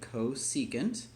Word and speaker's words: cosecant: So when you're done pausing, the new stuff is, and it's pronounced, so say it with me, cosecant, and we write CSC of theta.